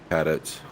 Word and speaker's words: Cadit: your last name cadit is it cadit or cadat cadit cadit okay well man looks like